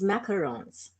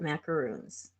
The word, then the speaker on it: macarons: it the correct is macarons m a c a r o n s there's only one o and people call it macaroons and right not yeah